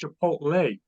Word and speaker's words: Chipotle: looked at me he said Dad it's not pronounced chipot it's pronounced Chipotle wait a second you got a 45 or